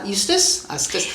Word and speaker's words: Eustace: he makes their cousin Eustace, because it rhymes like useless.